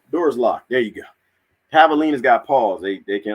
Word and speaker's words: javelina: that you mean the javelina it starts with a j javelina kind of like javier you know j is silent javelina j-a-v-e-l-i-n-a we'll eat